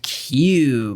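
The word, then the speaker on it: Ciú: It's called Q. Yeah, you're talking about bones. because it's spelled like that c i u with a little uh diacritical mark over it.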